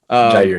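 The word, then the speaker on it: Jaire: I have Jair Alexander. Is that how you say it? Jair, yeah, correct.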